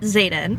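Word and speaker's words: Xaden: chapter one in which we've literally just met Zaden already so how you say his name hold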